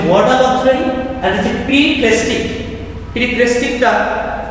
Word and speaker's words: periphrastic: প্রিপ্রেস্টিকটা pronunciation প্রিপ্রেস্টিক এবং এর স্পেলিংটা তোমরা যদি দেখো PERIPHRASTIC প্রিপ্রেস্টিক।